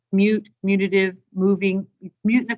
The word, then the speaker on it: commutative: C-O-M-M-U-T-A-T-I-V-E. You pronounce that commutative.